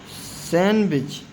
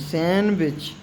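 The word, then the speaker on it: sandwich: जैसे hanker chief hanker chief और ये सैंडविच सैंडविच नहीं सैंडविच डी साइलेंट है।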